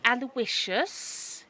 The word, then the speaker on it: Aloysius: My name is Aloysius. He pronounces each syllable individually.